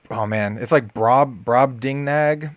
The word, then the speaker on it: Brobdingnag: Can you pronounce the first part of that for me? It's Brobdingnag Bullfrog, something like that.